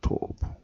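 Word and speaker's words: טוב: 이게 토부입니다. 토부. 발음도 역시 토부인데요.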